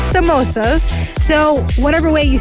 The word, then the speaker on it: samosa: Some people call it samosas. Yeah. Some people call it sambusa. So it's Samosas. No. That's just no. But it's samosas.